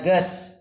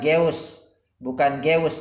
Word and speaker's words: geus: Kemudian ges ini dibacanya ges, bukan geus ya, tapi ges artinya sudah.